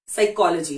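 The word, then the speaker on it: psychology: आपको अब देती हूं साइकोलॉजी ये एक ग्रीक शब्द है ग्रीक लैंग्वेज से लिया गया है तो इसको भी हम चेंज नहीं करेंगे जबकि स्पेलिंग होती है पी एस वाई सी एच ओ एल ओओ जीी वाई साइकोलॉजी लेकिन हमने सेे फिस कालजी या कुछ और भी नहीं बोला है इट्स वेरी फनी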